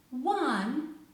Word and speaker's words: one: w like whether when but words like square question one also have wha sound english is so illogical